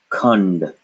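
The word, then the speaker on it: कुंड: So this would be pronounced kund. Remember, you don't want to leave out a. Kund, a, kund.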